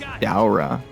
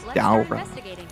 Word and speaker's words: Daora: It's Daora. That's how you pronounce it. It's Daora.